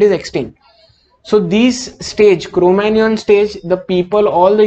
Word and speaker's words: Cro-Magnon: Now, this is pronounced as Cro-Magnon, okay, it is not Cro-Magnon.